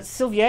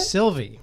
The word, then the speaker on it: Sylvie: studio films into everything upcoming films include a Sylvia is that how you pronounce it Sylvie Sylvie Sylvie starting Tessa Thompson and just announced